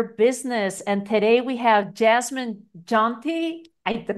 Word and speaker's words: Jasmine Jonte: life and your business and today we have Jasmine jonty I did not ask you how do you pronounce it that's it Jasmine jante you got it ah I did good I'm